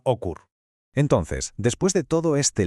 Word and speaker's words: OQR: más corto y simple, OQR, que seguramente se pronunciaba Ocur.